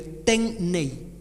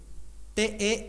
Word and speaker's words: Tenney: Y el otro, Nuestro Nuevo Testamento, el apellido del autor es Ten, así lo voy a pronunciar como se escribe, Tenney, Tenney.